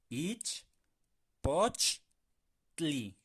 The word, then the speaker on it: ichpochtli: Ichpochtli. Vamos a separarla por sílabas. Ich, poch, tli. Tli. Bien importante que sea T-L-I, ¿de acuerdo? Tli. Ich, poch, tli.